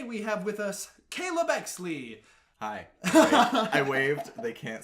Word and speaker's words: O.XLI: O.XLI. Even though it has a dot in there? It has the dot just for aesthetic.